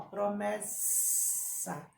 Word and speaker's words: promessa: Então, ó, promessa, promessa. É o sonzinho de quê? Da cobra. Então, ó, dois S's.